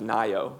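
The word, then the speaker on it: NAIIO: National AI initiative office which we pronounce Nao kind of like California nio um the nio helps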